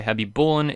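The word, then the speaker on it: Khabibulin: 2, in Russia, KH makes a sound that doesn't really exist in English, which gets approximated to an H, hence why Habibulin is pronounced the way it is in English.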